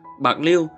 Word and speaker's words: Bạc Liêu: nhạc] 1841 Bạc Liêu Bạc lêu được phát âm theo tiếng Hán Việt từ tiếng Triều Châu là pô léo có nghĩa là xóm